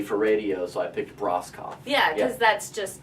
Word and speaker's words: Broscoff: So, but if you want to spell it properly, it's Broscoff, or Bros Coffee. Take off the 2 E's.